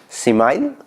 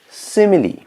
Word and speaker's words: simile: so let's see simile okay don't read it as smile or similar whatever you may be pronouncing pronounce it like simile seemingly see mainly simile